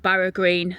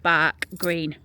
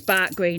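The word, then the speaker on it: Barugh Green: So his brother-in-law and his sister, they lived up in a place called Barag Green. So it's pronounced Bark Green in in Barnsley.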